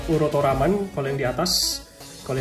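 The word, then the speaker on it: ウルトラマン: Kalau gua nggak salah ini bacanya harusnya Shin Urutoraman ya, kayak gitulah kurang lebih ya. Lalu kemudian ada logo Mafex, ada nomor 155 ya. Ini lagi-lagi ini tulisan hiragana, ini bacanya Urutoraman kalau yang di atas.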